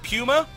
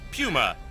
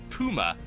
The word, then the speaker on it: PuMa: I believe Apollo is the correct way to pronounce it pummer yes pummer yeah that's that's right yes PW pummer just